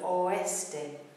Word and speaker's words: oeste: but it exists, in the word for west, oeste, oeste, three-syllable word, oeste.